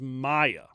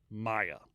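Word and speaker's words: Miagh: of his prisoners, Thomas Maya. At least that's how ChatGPT told me how to pronounce it, because I had to ask it because nothing else would tell me. M-I-A-G-H. Maya. It's an Irish name.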